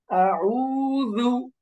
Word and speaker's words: أعوذ: قل أعوذ برب الفلق فلق فلق قل أعوذ ذو নরম করেন তো, আউযু, দাল জিহ্বার আগা উপরের বড় দুইটা দাঁত যে সামনে থাকে ওই দাঁতের আগা লাগিয়ে পড়েন।